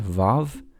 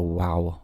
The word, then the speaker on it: Vav: Then we go to here, the sixth letter is Vav, Vav. Vav is an interesting letter because in Ashkenazic communities, Ashkenazic Jewish communities, it's pronounced like a V, V.